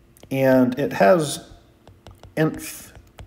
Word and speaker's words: inf: That's INF, pronounced inf.